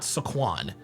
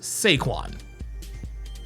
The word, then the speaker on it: Saquon: His name is not Saquan. His name is Sequin.